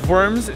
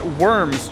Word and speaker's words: Worms: Today we are in Worms, Germany, or as Americans like to pronounce it, Worms, Germany.